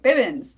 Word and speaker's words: Bibbins: My last name is pronounced Bib, like Baby Bibbins. Yeah, I said it right. Bibbins.